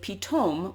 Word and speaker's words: Pitom: stop is the town of pitome which is the modern israeli pronunciation of the biblical store city of python archaeologists have not definitively